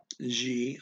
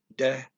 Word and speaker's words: de: G of, that's DE, looks like de, and I think it's pronounced de by some people in Brazil if they're talking slowly, but everyone goes to G if they're talking fast.